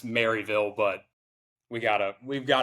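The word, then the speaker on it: Maryville: They're like Merville. Like it's spelled MU R. I'm like no, it's Mville, but we gota we've got to put the little East Tennessee twist on it.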